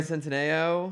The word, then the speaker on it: Centineo: Noah Centineo. That's how you pronounce it.